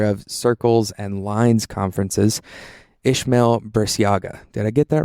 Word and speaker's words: Ismael Burciaga: I'm here at Squares Conference with the creator of Squares Conference and the creator of circles and lines conferences, Ishmamail Biaga.